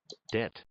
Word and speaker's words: debt: day for everybody Deb debt notice the B is silent debt debt debt what